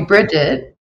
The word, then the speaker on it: Bridget: interesting and special G guest her name is briet did I say it correctly brette both enough um people call me Bridget do you can call me bridg I don't